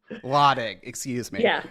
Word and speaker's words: Lottig: my last name it's my husband's their family pronounces it lotik lotik excuse me yeah it's fine what should i